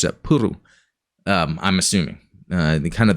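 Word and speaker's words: プル: FYI, in Japanese, play, PLE, which is the first thought, is pronounced puru, which makes sense because it sounded like they'd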